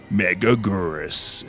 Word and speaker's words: Megaguirus: Meagurus is how they say it in the American dub.